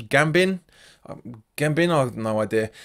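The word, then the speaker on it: Gbamin: gab gab bein done he pronounces Gambon Gambon I than no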